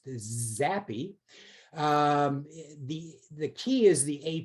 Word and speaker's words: xAPI: x api which i is i've learned is pronounced zappy the the key is the api basically scorm